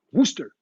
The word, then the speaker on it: Worcester: got too carried away when i tried to pronounce wooster so uh my friends time to get hammered